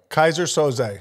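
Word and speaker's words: Keyser Söze: then it's Kaiser sose it's Kaiser so say Kaiser Soze yes we're playing so say what it is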